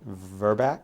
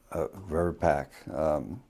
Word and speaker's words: VRBPAC: Is it VRBAC? VRBAC? VRBAC? How does it normally pronounce? VRBPAC. Vaccines and Related Biologicals Advisory Committee. And that's VRBPAC. Yeah.